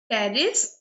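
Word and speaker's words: Pteris: डाइपोड में कैसे याद रखेंगे, डी आई डाई, पी ओ टी, पी फॉर टेरिस, P silent होता है इसमें, ओ फॉर ओफियोग्लोसम, और यहाँ पे डी फॉर हो जाएगा ड्राइओप्टेरिस, टेरिस, ड्राइओप्टेरिस एंड ओफियोग्लोसम।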